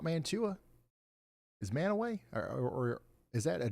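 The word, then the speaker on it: Mantua: Manway. Okay, I'll record it. Man away. I'll never get it wrong again. Manowway.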